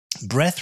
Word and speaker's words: breath: Breath refers to the air that you take into your body when you breathe. Breathe actually has an E on the end. Without the E, it's pronounced breath.